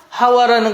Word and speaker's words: 하와: 하와라는 거, 이 하와는 히브리식 발음이에요.